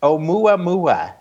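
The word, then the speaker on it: ʻOumuamua: But it's Oumuamua is how you say that. Oh, Oumuamua.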